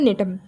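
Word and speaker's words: Gnetum: फिर आता है हमारा नेटम इसकी स्पेलिंग जो है जी से स्टार्ट है लेकिन इसमें जी साइलेंट है और इसको बोलेंगे नेटम इसके अंदर क्या होता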